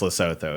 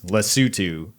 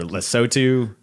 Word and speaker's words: Lesotho: we're doing but yeah so it's actually not pronounced Lesotho it's Lesotho or lesotu the sutu like we all say it together